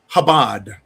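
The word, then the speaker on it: Chabad: Uh, Darc uh uh has let me know it's pronounced Habad.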